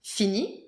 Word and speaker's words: finit: Il finit. Il finit. Final T. Il finit. Il finit. Il finit. Same pronunciation.